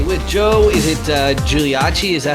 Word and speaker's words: Giuliacci: i'm joined today with joe is it uh giuliachi is that how you pronounce it yeah nailed it yeah latin studying